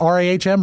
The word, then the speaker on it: Rahm: Is it Rahm? It's pronounced R-A-H-M, Rahm.